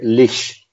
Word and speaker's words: leash: Lo dices mal, se dice leash.